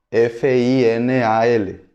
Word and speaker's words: final: Só que a pronúncia no espanhol é final, correto? Final. Em português parece que o L do final se torna um U.